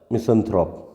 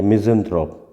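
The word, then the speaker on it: misanthrope: तो क्या होता है मिसंथ्रोप या मिज़ेंथ्रोप, दोनों ही प्रोनाउंसिएशन चलते हैं इसके।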